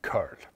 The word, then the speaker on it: curl: Och jag säger ju curl, med C-URL.